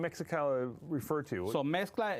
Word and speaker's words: Mexcla: So mezcla, it means a mix. So for the modern and traditional Mexican food, that's what we very put. cool. That's what it is, mezcla. Oh, I see. So when you spell it in Spanish, it's M-E-C-C-L-A, but put M-E-X-C-L-A.